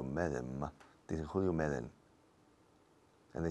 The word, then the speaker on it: Medem: Julio Medem. No, Julio Medem. Se escribe Medem, pero nadie en este país dice Julio Medem.